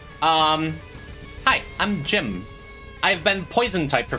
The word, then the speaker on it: Jimb: I am Jim. And I keep saying it's a silent B, and I keep kind of pronouncing the B.